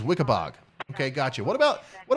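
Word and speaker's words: Weekapaug: to move into okay it's pronounced wickabog okay so wikipog is wikibog okay gotcha what about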